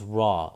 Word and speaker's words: Ra: of plate 18 shows raw or Ray in the way it's pronounced of Coptic as a falcon-headed god